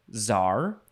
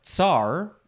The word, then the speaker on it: czar: We have, you can pronounce this different ways. You can say czar or tsar, or probably, variations on that.